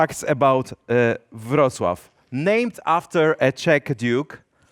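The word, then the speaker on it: Wrocław: So Rocklow is actually the name that probably most of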